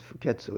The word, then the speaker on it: Fuketsu: quite a well-known uh of course fuketsu is the Japanese pronunciation of his Chinese name his dates are 896